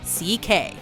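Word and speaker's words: Székely: of those unfamiliar with Hungarian names it's actually pronounced CK so CK works as a remarkably close approximation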